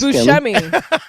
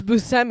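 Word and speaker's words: Buscemi: I always thought it was Bushmi and it's Busmi.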